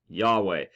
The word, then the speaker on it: Yahweh: Many Greek transcriptions also indicated that these 4 consonants should be pronounced Yahweh.